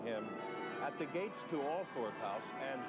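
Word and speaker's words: Althorp: at the gates to all fourth house and here in this village they do pronounce it all for there are a couple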